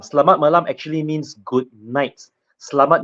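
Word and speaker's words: Selamat malam: CH can you pronounce that this is actually pronounced Salat malam slat malam actually means good night slamat meaning good and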